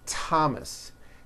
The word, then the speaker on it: Thomas: like to point out although these next words and names are spelled with a th they are pronounced as if they were spelled with a normal t t like that and these words are thomas